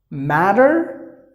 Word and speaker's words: matter: into some of the words like this letter matter look at that they're two T's you may